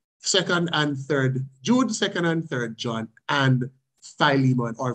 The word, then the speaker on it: Philemon: And then the other four in the New Testament, Jude, second and third John, and Philemon, or Philemon, as some people pronounce it.